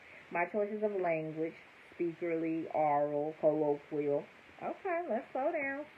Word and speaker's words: aural: So, aural, but she say it like oral. Oral, A-U-R-A-L, or oral.